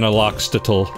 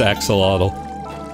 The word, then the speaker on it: axolotl: Oh, but I can buy an Aloxtotl. Yes, I know it's axolotl. But it's funnier to say it wrong.